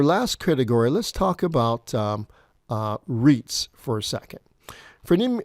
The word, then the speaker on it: REITs: estate as a group REITs r-e-i-t okay just how you they've spelled Reit pronounced REITs allow you to just